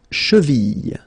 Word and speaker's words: cheville: La cheville. La cheville. Remember, double L like that after I, y.